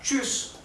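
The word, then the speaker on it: Tschüss: lo tanto la palabra chus se escribe tsch tsch esta combinación de cuatro letras siempre se pronuncia ch bien Okay Eh la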